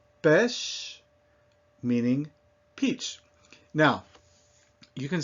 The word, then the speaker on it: pêche: Pêche, meaning peach. Now, you can see that these are not all spelled the same way, but they all have that same sound, eh.